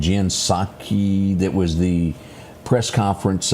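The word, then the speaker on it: Psaki: You know, I brought this up a minute ago and and I and I may have mispronounced her name. Jen Saki.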